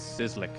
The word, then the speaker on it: Sizzlick: it sizzlic sizzlic yeah this spelling looks like it's complicated but it's just sizzling like my last name